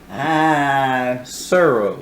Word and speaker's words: Tsuro: So your number 10 is Tsuro. Tsuro? Tsuro. I didn't even know how to pronounce it, but it's the fun. T silent. Yeah, okay. The okay. T silent. Tsuro.